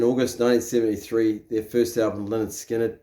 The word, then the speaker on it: Lynyrd Skynyrd: real progress in August 1973 their first album Leonard skinnard pronounced lard skiner was an immediate success and contained